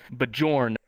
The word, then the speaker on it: Bjorn: to know this one the name is spelled b j o r n sleepy how do you pronounce that bjorn what's his name um bajorn okay cool bjorn who do you think is